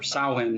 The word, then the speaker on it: Samhain: it's just about the festival of Samhain, or Samhain as they pronounce it.